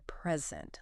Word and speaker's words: present: So when it's a noun, the stress will usually be on the first syllable. Okay. Think about like a record, like a vinyl record, or a present, like a gift. And then when you use the same word as a verb, Yeah. the stress usually moves to the second syllable.